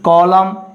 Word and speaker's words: column: Column, N is understood.